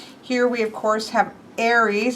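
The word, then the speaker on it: Ares: Here we, of course, have Aries, I've always said, but Chris pronounced it Aries.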